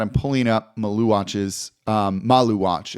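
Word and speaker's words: Maluach: I'm pulling up Maluatch's um Malu watch is how you pronounce it kind of with the spices there.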